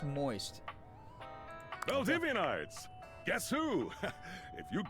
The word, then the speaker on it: Most: Your favorite CEO, David Most, uh, pronounced moist.